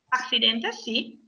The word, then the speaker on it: accidentes: odio las fotos de accidentes Accidente, sì. Ricordate che della quando ci sono due C, solitamente una si legge tipo una S e l'altra si legge la C dura, quindi accidentes, ok?